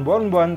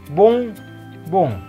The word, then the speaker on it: bonbon: Nah, dibacanya bukan bonbon tapi bung, bung. Ke atas, bung, bung. Itu artinya permen. ON-nya berbunyi ong.